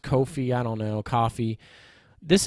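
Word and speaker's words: Ko-fi: This is a coffee page. It's pronounced Kofi.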